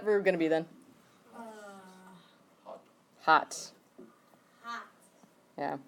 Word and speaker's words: hat: Hot. Hot. hot. Yeah, like it's hot, temperature-wise. Okay, spelled hat, pronounced hot.